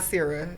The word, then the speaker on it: Nasira: Nasira, and if you say Nas.